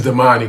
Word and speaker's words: Damani: How you pronounce it? It's Damani, but Damani.